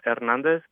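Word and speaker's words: Hernández: uh you mentioned your last name are you pronouncing that with an H or not uh ernandez you really don't sound the age uh but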